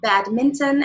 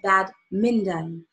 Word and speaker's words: badminton: they are going to mispronounced the word badminton as bad Minden to make sure you